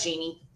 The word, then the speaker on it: Jeanne: It's like Genie. It's it is Genie. Yeah. Okay. That way I don't mess it up. All right. So, Janie, tell us about who you were when you were a little girl.